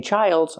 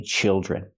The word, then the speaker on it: children: have more than one I don't say Childs I say children use the short is sound like this is children and the Dr makes